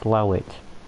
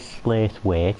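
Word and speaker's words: Slaithwaite: right my whole life slow it i know it says slate wait i know it's spelt like that but it is slow it slaugh which is another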